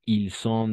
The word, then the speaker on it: ils sont: Ils ont un ordinateur, mais ils sont architectes. ¿D'accord? Ils sont, sin liaison, y es una S, sin vibración.